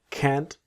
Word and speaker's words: can't: I'm really sorry, but I can't. So, cannot. Can't. Always that strong t of can't.